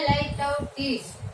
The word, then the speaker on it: litotes: इसका प्रोनाउंसिएशन होता है light out tease. Light out tease, ये इसका प्रोनाउंसिएशन फोनेटिक के अकॉर्डिंग बोला जाता है।